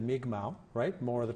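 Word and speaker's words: Mi'kmaq: those are the days we still used to say Micmac instead of me kamau write more of the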